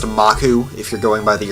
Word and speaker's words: Maku: guess it is pronounced maku if you're going by the original like or the more authentic Japanese pronunciation but when I was a kid I always wanted to say maku you know like Maple